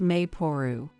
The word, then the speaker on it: Maple: But you know, I saw this name online, written as Maple but pronounced Mayporu.